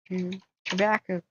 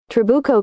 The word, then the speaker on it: Trabuco: How do you say Trubaco Canyon? Trabuco, right? Trabuco Canyon. Trabuco. Okay, I was somehow right in the first place.